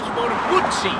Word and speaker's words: Guzzi: If you're Italian, it's Moto Guzzi. Guzzi. It's a Guzzi. It's a double Z.